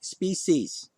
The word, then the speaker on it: species: well by the way species not species species is there's no Sh in that word I mean the only